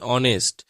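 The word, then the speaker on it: honest: অনেস্ট নয় উচ্চারণটা হবে অনেস্ট তাহলে এইচ আছে কিন্তু এইচ এর কোন উচ্চারণই তো হচ্ছে না উচ্চারণটা হচ্ছে কি দিয়ে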